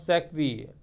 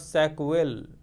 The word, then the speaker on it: Sackville: The 1561 play Gorboduc by Thomas Norton and Thomas Sackville. This is a French name, again students, this is not Sackville, this is Sackville. In French, I-double-L-E is E, is pronounced as E, was the first English play to use blank verse.